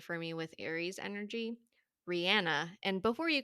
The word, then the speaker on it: Rihanna: comes to mind for me with Aries energy Rihanna and before you correct me that is actually